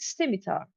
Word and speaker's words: scimitar: I have a how do you pronounce that? Is it scimitar?